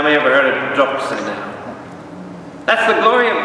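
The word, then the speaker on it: δόξα: Doxa. D-O-X-A. Remember what doxa is? Let's say very quickly what doxa is. Through him, with him, in him. How many ever heard of doxa now?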